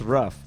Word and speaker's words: Roof: Are we supposed to talk about the Dylan Roof shit? It's What's a big that? deal. His Oh, name he is went to pronounced Burger Ruff. King. His name is pronounced Ruff.